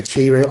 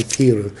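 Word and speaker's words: Chi-Rho: got the key room some people say Cheerio I say Kira if we look at his original pronunciation in Translation it's hero but some people say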